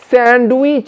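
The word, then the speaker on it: sandwich: তাহলে এটা কি হবে আমি বলে দিচ্ছি। স্যান্ডউইচ আমরা সব সময় খাই, হ্যাঁ, তো এটা যদি তুমি ডি সহ উচ্চারণ করো তাহলে বলতে হবে স্যান্ডউইচ, কিন্তু এখানে ডিটাকে মার্ক করে দিয়েছি, অর্থাৎ ডিটার উচ্চারণ হবে না।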